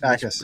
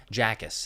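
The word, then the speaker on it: Jacas: I always Akis. Yeah, Akis. Okay, Akis. The J is silent. I pronounced it previously as Jackus, and there we got in trouble for that one.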